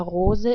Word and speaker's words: Rose: The color of a rose is red. The word for rose is the same in German, but is just pronounced differently.